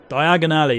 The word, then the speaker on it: Diagon Alley: Oh my god, how come I can't pronounce Diagon Alley? Jesus Christ. Diagon Alley, there we go.